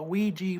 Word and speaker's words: Ouija: Yes, it's called a Ouija board, but it's spelled O U I J A.